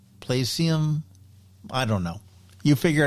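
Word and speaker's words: Playseum: It's play s e u m like museum. Plium. Placium.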